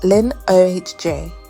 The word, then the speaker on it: Linoge: A mysterious stranger named Andre Linoge, pronounced Lin-O-H-J, arrives carrying a silver wolf's head cane, marking the start of the island's descent into nightmare.